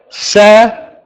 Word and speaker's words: salary: with the Thai language, you like to pronounce the letter R as an L sound, but we have to say an R, R.